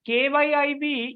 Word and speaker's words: Kyiv: Russia and Ukraine because kyiv is not the same as Kiev the pronunciation is different if the the ukraines have k y i b the Russian stock Kiev and their separate and